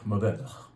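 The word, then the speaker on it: Mourvèdre: Maved. Supposed to gasp that last syllable. You don't actually voice it.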